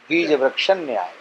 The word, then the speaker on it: बीज वृक्ष न्याय: हमारी संस्कृत भाषा में इसको कहेंगे बीज वृक्ष न्याय। ये शुद्ध उच्चारण होगा। बीज वृक्ष न्याय।